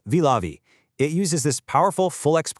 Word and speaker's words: Vilavi: Vilavi T8 Stone, pronounced Vilavi.